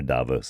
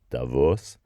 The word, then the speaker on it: Davos: You're going to hear Davos a lot, but it's not. It's Davos, German sounding pronunciation of it, or Tavau if you speak Romansh, which is a Romance